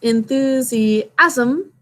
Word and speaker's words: enthusiasm: it perfect enthusiastic okay here's enthusiasm remember that that last syllable asm we say really quickly and it's all one syllable kind of like organism ism and azim are